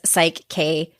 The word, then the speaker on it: PSYCH-K: I don't even know if I'm pronouncing it right. Is that correct? Yes, it is. PSYCH-K.